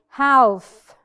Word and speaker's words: half: we do we do not say half the L is silent another example palm palm tree